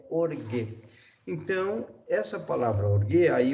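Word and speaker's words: ὀργή: Que corresponde, então, ao nosso G, mas a pronúncia é orgue.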